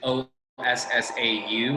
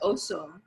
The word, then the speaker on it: Ossau: But it's not, how is it O-S-S-A-U? Is that how it's, oh, okay. Yeah, So, but they say it's pronounced Osso, not Ossau.